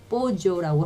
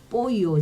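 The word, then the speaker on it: pollo: 그 다음에 이것도 볼로 아니고 뽀조라고 하기도 하던데, 뽀요 저는 이렇게 발음해요.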